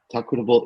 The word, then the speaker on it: tEQuitable: tEQuitable is we are a product development company. The company name is pronounced tEQuitable because we use technology to make workplaces more equitable.